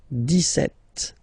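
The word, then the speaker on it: dix-sept: then for the pronunciation deset okay so you don't insist on the S deset setet okay then so you will make this little link between the two the okay then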